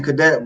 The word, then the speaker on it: Cadet: It's actually Cadet, but you know some people say Cadet.